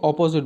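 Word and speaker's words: opposite: तो पहले वाले को अपोजिट बोलते हैं, दूसरे वाले को ऑपोजिट बोलते हैं।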